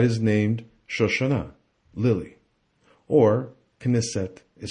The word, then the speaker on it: Knesset: named shashana lily or kinisette i say knissette because the last world ended with a vowel and in hebrew the